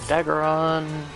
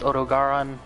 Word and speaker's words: Odogaron: Okay, I need to kill Odageron and Legiana, and I'm aware that that's probably pronounced Odogaron, but I don't care.